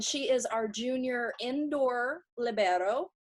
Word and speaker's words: libero: I am here with Anna Dalla Vecchia, who is from Venice, Italy, and she is our junior indoor libero.